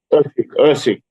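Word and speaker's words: Erceg: Ursig. Ursig to beat Kaikara France, especially after that fight with Pantoja.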